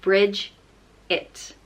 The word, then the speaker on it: Brigid: saint of Ireland and it's pronounced bridge it bridges and bridges is